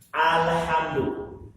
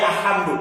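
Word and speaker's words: الحمد: Contohnya al-hujratu, atau dalam al-Fatihah contohnya alhamdu. Ini alif lamnya dibaca dengan jelas. Alhamdu, jelas. Tidak boleh alhamdu, tidak boleh.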